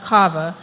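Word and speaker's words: קוה: It's pronounced kava, and there's two different sides to it.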